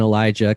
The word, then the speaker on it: Elijah: now is elijah and elijah kind of like uh a megan versus amigan where it's spelt the same but it's just said differently oh no it's one's an sh and one's a j oh like elisha elisha